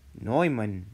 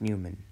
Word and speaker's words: Neumann: it's directly so and this is neumann not newman neumann neumann noeman so